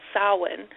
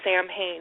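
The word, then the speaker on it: Samhain: its the origins of uh the festival called saan which actually looks phonetically like Sam Hayne but it's pronounced sa and you know it's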